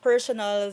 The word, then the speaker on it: personal: When we talk about personal, the stress is on the first part of the word, pero yung personnel is on the last syllable.